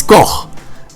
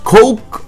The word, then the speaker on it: Koch: to the fact that the correct pronunciation of Koch is Koch and not Coke or Cock or Cook. It's Koch, damn it!